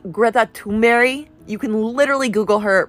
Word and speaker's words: Greta Thunberg: It's actually pronounced Greta Thunberg.